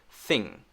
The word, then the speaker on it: thing: is i myth okay the next one thing thing thing thing okay we won't focus on the end of the ing because i'm going to teach you that in another lesson and make sure we cover that i just want you to focus on the th sound notice that i'm bringing my tongue back my tongue is ready i'm not doing this thing thing like that i'm not sticking my tongue out and then back quickly